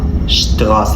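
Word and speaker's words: Straße: اللي معانا بعد كده مقطع الاس تي وده بيتنطق شت الفرق بينه وبين الاس بي ان الاس بيتنطق شبا ده بيتنطق ش اشتبيل شغاس اشتغاس يعني شارع شاتسيوناتسيون يعني محطه اوضع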